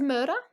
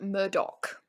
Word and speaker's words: Murdaugh: spelled m-u-r-d-a-u-g-h and so if you were to just see that like really quickly you might think it says Moda yeah but it's pronounced Murdock and the more you